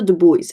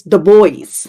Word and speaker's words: The Boys: It was not called the Du Bois. It's the boys.